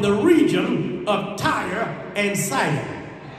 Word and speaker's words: Sidon: region of Tyre and Sidon. Some pronounce it Sidon. It depends upon or depends on who taught you.